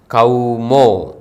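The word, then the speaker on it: ܩܘܡܐ: മാത്രമാണ് അത് ബന്ധിപ്പിച്ച് എഴുതുന്നത് ആ എന്ന സ്വരത്തിനു ശേഷം വാവ് എന്ന അക്ഷരം വന്നപ്പോൾ അത് ഔ കൗ മോ ഇതാണ് നമ്മൾ ഈസ്റ്റ് ശ്രീക്കിന്റെ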